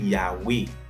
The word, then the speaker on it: Yahweh: des fois dans VA yo te prononcer comme un W, c'est ça qui fait ou après gagner côté mon yo dit Yahvé pendant ce temps en pile l'autre monde tout dit Yahweh. OK, c'est Yahvé, c'est même bagarre là mais c'est juste prononciation et langue qui modifiée dans des temps différents.